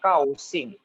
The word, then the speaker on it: 高兴: G tidak boleh ada hanya. Kau sing. Lagi ulangin. G bacanya itu K-A-O. Kau. Coba seperti kamu menyebut kau. Oh, good. Itu lebih tepat ya.